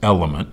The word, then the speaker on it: LMNT: Now, as you know, I like LMNTs, pronounced element.